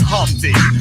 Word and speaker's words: Humpty: let me introduce myself my name is humpty pronounced with the empty yo ladies oh how